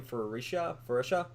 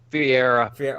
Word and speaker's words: Ferreira: Ferreria? Ferreira. Wow, I was way off.